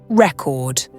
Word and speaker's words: record: For instance, consider the word record. If you stress the first syllable, it's a noun, as in a vinyl record. But if you stress the second syllable, it's a verb, as in to record a video.